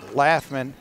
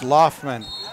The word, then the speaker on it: Loftman: It wasn't Laffman, it's Loftman. Loftman drives in, puts up